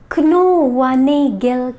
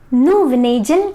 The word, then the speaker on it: Knoevenagel: Knoevenagel condensation. Knoevenagel condensation. It's the German pronunciation. And Knoevenagel condensation. Knoevenagel condensation. It's an English pronunciation.